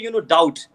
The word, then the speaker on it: doubt: Like for example, if I say doubt, be silent. Yes or no? Silent. Be silent. And when I Yeah. say like debt, again be silent.